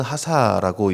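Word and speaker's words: חָסָה: 원어로는 하사라고 이제 발음하게 되는데요, 우리말 성경은 단순히 피하다라고 번역했지만 이 단어는요, 단순히 위험을 피해서 숨는 소극적인 행위를 넘어서는 단어입니다.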